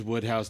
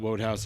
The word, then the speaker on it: Wodehouse: It's Woodhouse, not Wodehouse. I looked it up. I it is fact checked Woodhouse. my own fact check, and I was wrong. Wodehouse. Okay. Woodhouse.